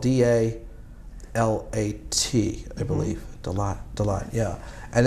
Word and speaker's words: Dalat: It's spelled D-A-L-A-T, I believe.